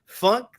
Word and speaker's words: Funktasy: I know it's fantasy. It's Funktasy. Am I saying it right?